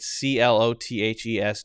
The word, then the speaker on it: clothes: Well, if you're going to say it correctly, then you do have that correctly. Then you do have that clothes. There's the th and then the z.